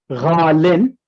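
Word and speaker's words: غالٍ: So ghaliyun is pronounced ghalin with a kasra tanween.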